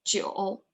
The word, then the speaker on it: 酒: 啤酒啤酒 Yeah, like Joe, but 酒啤酒 Yes.